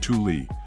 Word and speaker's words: Thule: the exploration and Adventure brand Thule pronounced Thule founded in Sweden in 1942 chose